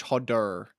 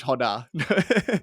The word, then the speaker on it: Hodder: or I should say for for everyone Hodder ER at the end it's not a Honda although that's yeah that's the Australian pronunciation um